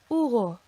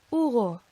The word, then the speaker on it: Hugo: Hola, hola, Hugo, Hugo. Hasta pronto, hasta pronto. Okay, and as you can hear, there is no sound from that H by itself at all.